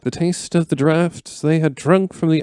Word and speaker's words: Draught: Yeah, this is the Ent Draught, or as I guess we would say it here, Ent Draft.